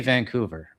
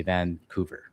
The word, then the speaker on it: Vancouver: from Vancouver is that when you say Vancouver, um there's a little bit of a G after the N. Um and I guess that's how the locals say it, but if you're not from Vancouver, you just say Vancouver, right? Which is a little bit different.